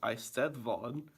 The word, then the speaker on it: Eisteddfod: The Eisteddfod, in Welsh pronounced Eisteddfod, dates back nearly 900 years.